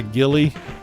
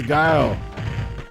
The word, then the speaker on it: Guile: How dare you, Guile? I used to have a friend of mine that would always call this guy Gilly. He's like, oh, you're using Gilly. His name's Guile.